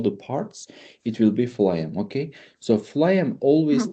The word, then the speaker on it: phloem: Okay, so phloem is Mhm. starting with the F, right? The pronunciation PH is F.